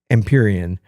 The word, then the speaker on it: Empyrean: confident because I know how to say it emperion uh Isles but one thing just learned how